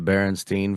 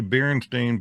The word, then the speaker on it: Berenstain: No, but it's the Berenstain Bears. I see. I remember it as the Berenstein Bears. S Stein. T E I N. I Yeah. just didn't pronounce it like that. I think I said Berenstein or something.